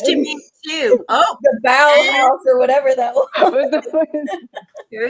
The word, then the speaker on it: Bauhaus: Bauhaus, yeah.